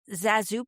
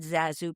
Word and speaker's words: ZaSu: It's Zah, as in Eliza, and Zoo, as in Susan.